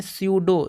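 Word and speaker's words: pseudo: भी उच्चारण नहीं करेंगे यहां पी साइलेंट हो जाएगा इसको पढ़ते हैं सूडो सूडो इसको दोस्तों पढ़ते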